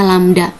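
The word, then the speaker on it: λ: Ini dibacanya lambda.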